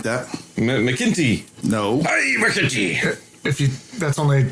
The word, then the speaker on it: McEntee: McEntee. Is that how you say it? Something like that. McEntee. No. Hey, McEntee. That's only like what they would say. You brought Irish. I'm a Mac, not a Mick.